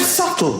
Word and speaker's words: subtle: The word subtle. Would anybody object if it was spelled s u t l e? Not a single person would. But there's a b in the middle going shh.